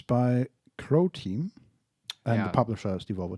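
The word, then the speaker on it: Croteam: I mean, Crow Team, a Croatian independent Okay, studio. not Ukraine. Sorry. Rhymes with Bro Team.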